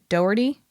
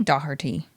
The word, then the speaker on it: Doherty: It's not Doherty. No one says it like Doherty. They say Doherty. That's you're putting in an you're putting in an I that doesn't belong there.